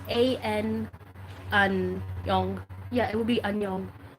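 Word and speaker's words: Aonung: So first of all, we know that Anyong, or Anyong, yeah, that's how you say his name because it's A-N Anyong.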